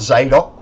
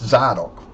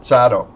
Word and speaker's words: Zadok: Stupid palms who mispronounced It's not Zadok. If it was going to be Zadok, you'd pronounce it Z A Y D O K. But they don't. It's Zardok. Got that? Zardok, not Zadok.